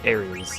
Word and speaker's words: Aerith: If you can name a character they are alive, you can name Aerith. Or Ares, if you prefer pronouncing it that way.